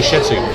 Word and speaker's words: Shittu: box to brief us, saying his name is Danny Shittu, we call him Danny Shittu. He doesn't like it when people try to somehow sanitise his name and pronounce it in a way so it doesn't sound rude.